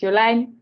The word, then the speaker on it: Jolijn: So if you really want to pronounce my name, it's Joline, but Jolene is something I respond to very well.